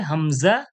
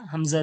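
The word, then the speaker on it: ء: থেকে যে শুরু হচ্ছে, কণ্ঠনলীর শুরু থেকে কি উচ্চারণ হয়? হামজা, হা, হামজা, হা।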